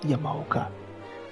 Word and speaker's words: Yamaoka: I'm no weep, but even I can pronounce Yamahoka. They called him Yamakoma.